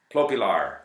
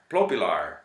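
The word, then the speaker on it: Plopilor: And they go to great lengths to help you with the pronunciation, even for things like Plopilar Boulevard, Plopilar, Lar, Lilar, Plopilar. And Plopilar Boulevard is not something that I consider all that useful.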